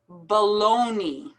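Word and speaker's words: bologna: funny word to pronounce it's actually pronounced baloney baloney as if it were to end with the y sound baloney specific specific strengthen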